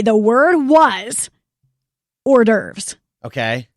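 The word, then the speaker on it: hors d'oeuvres: say the word was ordes okay have you seen how ordes is spelled it's very weird cuz it's like French or something isn't it yes yes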